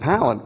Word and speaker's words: palate: So that may be a very interesting thing in a conference to say, Fiona, when you read this, you said palate, which rhymes with salad, which is correct, and then you didn't do it here.